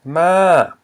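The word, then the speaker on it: ມ້າ: but this is horse, ma. Okay, so you have the low consonant plus a live syllable ah. However, it's a falling tone.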